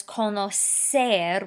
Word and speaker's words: conocer: Right away you know there's an issue because the original verb says conocer with a soft C sound, and right away in the yo form of the simple present indicative over there on the left, we've written conozco with the hard C sound.